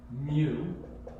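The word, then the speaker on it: μ: Greek letter mu mic this funny-looking to you is pronounced mu it's a Greek letter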